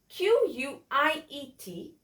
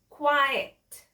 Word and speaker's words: quiet: Q-U-I-E-T, its pronunciation is quiet, quiet. It's a two-syllable word and it is an adjective.